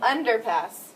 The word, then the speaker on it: underpass: So where does the accent go? On the first syllable. Underpass.